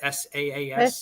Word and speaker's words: SaaS: SAAS?